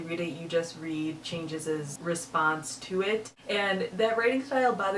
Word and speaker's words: Changez: I think it's Changes. It's Changez.